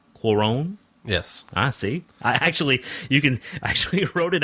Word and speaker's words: Cuarón: It was directed by Alfonso Cuarón. Cuarón?